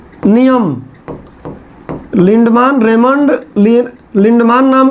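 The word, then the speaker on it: Lindeman: भाई थे, इनका नाम था रेमंड लिंडमान, कुछ लोग लिंडमैन बोलते हैं।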